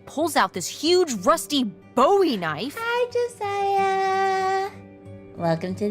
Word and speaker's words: Bowie: out this huge Rusty Bowie knife hi Josiah welcome to the stream I'm doing good it's actually pronounced buoy what no it's like the last name like David Bowie different last name buoy are you just messing